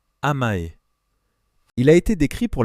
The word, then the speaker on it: amae: Le premier mot est amae, prononcé amae.